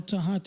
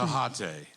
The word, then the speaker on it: Tejate: Tahate. It's spelled T-E-J. Tejate. It's like Tecate, right?